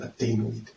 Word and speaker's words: adenoid: It's an adenoid. Not an Adonis, so an adenoid.